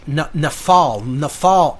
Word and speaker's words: Nephal: And again, this word, Nephilim, it comes from the Hebrew language, Nephal, N-E-P-H-A-L, transliterated in English. That's how you would spell it. It comes from the Hebrew, Nephal, which is Nun Pet Lamed.